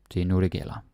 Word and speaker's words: Det er nu, det gælder: Det er nu, det gælder. Like, so just the R doesn't really get pronounced.